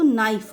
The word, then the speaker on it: knife: जैसे देखिए KNIFE, यहाँ पर के की कोई आवाज़ नहीं आ रही है, लेकिन स्पेलिंग में के है, तो यहाँ पर हम इसको नाइफ पढ़ेंगे।